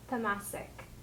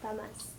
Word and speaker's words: tamas: So this type of food that the corn is a sample of is called in Ayurveda as tamasic. So tamas is spelled Tamas.